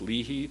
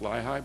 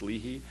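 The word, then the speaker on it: LIHI: impact Hydro power Institute pronounced Lehi not lii but it's Lehi and they have been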